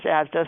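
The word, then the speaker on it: ASDAH: It's pronounced ASDA, Association for Size, Diversity, and Health.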